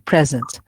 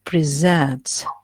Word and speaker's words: present: present simple for example present so here you don't focus you don't stress any part any syllable but if i say to present here i focus on the second syllable and of course uh